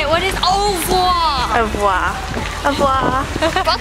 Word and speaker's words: au revoir: What is au revoir?